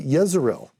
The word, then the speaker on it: Jezreel: So we use the letter J in English, but in the Hebrew, it'd be Yezreel, which sounds like Yisrael, which is how you say Israel.